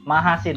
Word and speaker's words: Machasin: Islam begitu Prof ya nanti ambil ya diluruskan pengucapan Nama saya itu menghasilkan majasnya mahasin Oh ya mahasin oke oke apa namanya Gem